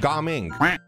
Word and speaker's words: Gaming: That's not how you say his name. I think there's supposed to be a hyphen or a space between Ga and Ming. So I think you pronounce it Ga Ming.